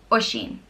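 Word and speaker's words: Oisín: now first name is Oshin and it means little deer and it's pronounced oh Sh een Oshin and it's spelled o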